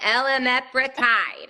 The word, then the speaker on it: Elamipretide: And this is how you say it, Elamipretide, Yeah, okay?